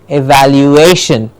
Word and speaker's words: evaluation: say in the beginning we said the syllable before addition generally gets the stress and that's how we get evaluation and the very clearly heard evaluation evaluation yes evaluation evaluation